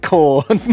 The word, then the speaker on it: Khorne: And Dawn rhymes with Khorne. Dawn does rhyme with Khorne.